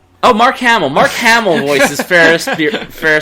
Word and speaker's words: Mark Hamill: is a guy named let me see by pronouncing this right mark Emile Oh Mark Hamill Mark Hamill voices fair fair spoil you almost